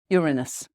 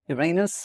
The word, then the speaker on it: Uranus: the full what planet does it linked to Uranus or Uranus or however you want to pronounce it that is the planet for the